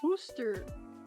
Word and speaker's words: Worcester: Worcester. 2 syllables.